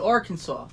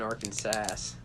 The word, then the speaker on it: Arkansas: they're not weird but we call it Arkansas yeah not even Arkin sass there's no W in